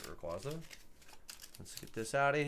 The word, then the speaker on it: Rayquaza: I was saying Rayquaza. That's how you say it, right? Rayquaza.